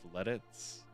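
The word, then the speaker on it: Lititz: It's pronounced Letitz.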